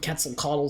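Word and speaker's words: Quetzalcoatl: the Great temple of quetzal coddle support it's amazing that I know how to pronounce this it's actually how you pronounce it uh and this will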